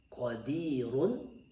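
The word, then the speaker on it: قادر: Selanjutnya contoh qadirun. Nah, kita baca waqaf maka menjadi qadir, ra-nya juga tipis qadir.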